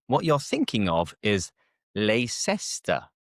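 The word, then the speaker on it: Leicester: And the tip here is to ignore the C E. What I mean by this is that it's kind of silent. We don't pronounce the c e. Let's let me show you what I'm on about. Let me show you what I'm talking about. So, we have leester.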